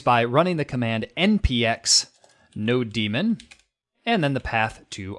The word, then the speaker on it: nodemon: I know some people pronounce this differently, like no demon, Nodemon, right? Nodemon, some people pronounce it like.